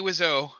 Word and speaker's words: Wiseau: you If know, really I like have to torture say, I yourself- have to say that Tommy Wiseau. That's how I pronounce his last name.